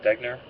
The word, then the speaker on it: Degner: this is Mark Mark degner and Brian Hayes did I pronounce that right degner yes you did amazing okay um the